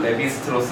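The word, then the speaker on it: Lévi-Strauss: 리바이스라고 읽기도 하지. 리바이스 청발해야 되는 리바이스라고 있고, 레비스트로스 할 때는 레비라고 읽지.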